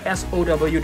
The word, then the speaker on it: sow: I'm not too sure how you pronounce it. S-O-W. Do you guys pronounce it as sow or... I think it should be sow.